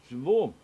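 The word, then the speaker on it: שבו: This is why its accent is on the last syllable. So we know we want to have the accent on the right syllable, because if we have it on the wrong syllable, it comes out syllable. Okay. The further commentary on this one says, regarding to the accent on the last syllable, had the accent been on the first syllable, it would have meant they returned.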